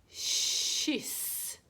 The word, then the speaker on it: kyss: En kyss. K uttalas sh därför att Y är en mjuk vokal.